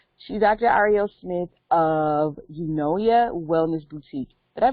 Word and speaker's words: Eunoia: Arielle Smith of Eunoia Wellness Boutique. Did I pronounce that right? Yes, very close. So, yes, Eunoia Wellness. Eunoia, okay.